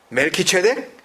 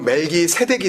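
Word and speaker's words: מלכי־צדק: 멜키 세이 된 겁니다 그래서 멜키 체덱 우리 발음으로 멜기세덱이 된 거예요 무슨 뜻이겠죠 여러분 의의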